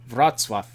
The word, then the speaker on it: Wrocław: Wrocław. You stole my thunder there, Mad Queen. Wrocław.